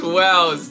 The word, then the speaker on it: Wells: course with eli and willis oh well sorry i've been saying it wrong all along well i am correcting it now thank you so much wells thank you for joining